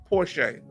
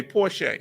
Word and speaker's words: Porcher: Listen, we say, my family name is Porcher, pronounced Porsche. Okay, Porsche.